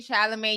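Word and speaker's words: Chalamet: Yes, Timothy Shalamé. Y'all know me and pronunciation don't go well together.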